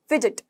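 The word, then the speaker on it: fidget: फिजिट, फिजिट, अब यहाँ पर डी जी जी ज की साउंड कर रहा है, ठीक है। जी जी हमने प्रोनाउंसिएशन ऑफ लेटर्स में देखा था, ज की साउंड, फिजिट, ठीक है।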